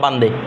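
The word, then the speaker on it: بنده: এটা মূলত বান্দা হচ্ছে উর্দুতে, ফার্সিতে হচ্ছে কি? বান্দে। ফার্সি শব্দ মূলত হচ্ছে ফার্সি শব্দ বান্দে।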